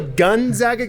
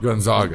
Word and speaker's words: Gonzaga: Gonzaga. As long as you nail the A, you're good.